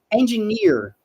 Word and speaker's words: engineer: right architect and engineer pay attention to the sound here this e it's a short e okay so we don't say no we say right so near this is a longer sound here at the end so engineer if you